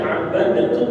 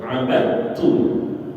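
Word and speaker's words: عبدتم: Idam mutajanis ketika ada huruf Dal bertemu dengan ta dalnya mati tanya hidup dalnya enggak usah dibaca langsung dimasukkan ke huruf ta itu namanya am ya Jadi kita enggak baca abadtum gak kalau ada yang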